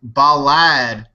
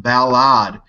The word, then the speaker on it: Balad: I had a comment this weekend that I was saying Balad wrong. An American that worked at the military base there said, you said it wrong. It's pronounced Balad.